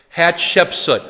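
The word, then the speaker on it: Hatshepsut: throne is this woman hat shepsut hat Shep soot hat Shep soot let's say her name together hat Shep so now say it fast once hat shepsut that's how you say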